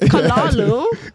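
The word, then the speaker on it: callaloo: what it is how do you say it kalalu kalalu yeah kalalu calu what is it okay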